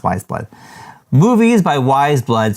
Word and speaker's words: Weyes Blood: Chalolu, and it is Movies by Wise Blood. Wise Blood. Oh, it says what? Pronounced Wise Blood.